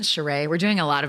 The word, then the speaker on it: Sheree: I remember Will Smith famously in 1995 left his wife, Cherie Zampino, and that's when he got together with Jada Pinkett Smith. Are you sure it isn't Sheree?